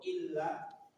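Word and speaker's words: إلّا: Kalau illa Kecuali.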